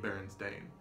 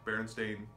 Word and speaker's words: Berenstain: names to Americanize them Bernstein is commonly believed or anything ending in steen is commonly believed to be of Jewish descent and it's easier to pronounce as Stein as we know like Frankenstein Einstein gold styling things like that but it's believe this Ellis Island officer changed their name to stain and it has always